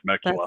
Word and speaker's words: Temecula: Temecula. I don't know how it's spelled, but then when you pronounce it, it's like, okay, that's got to be Temecula.